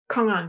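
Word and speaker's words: kong-an: Master Jibong, is this koan training. So, I'm pronouncing it in the Korean way. The Japanese way would be koans.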